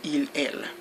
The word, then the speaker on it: ils: IL only in special occasions you can pronounce the S at the end you can say is or else but only at certain occasions but you know generally you just say IL so in is the